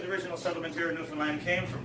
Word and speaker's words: Newfoundland: A blue star is also a beer, and it is pronounced Newfoundland, not Newfoundland or Newfoundland.